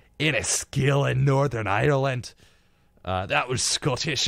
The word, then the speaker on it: Enniskillen: Enniskillen, Northern Ireland.